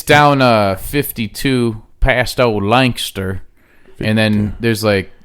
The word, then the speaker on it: Lancaster: But I found out the joke's on me because Lancaster is actually a Scottish word, and that's how it's pronounced.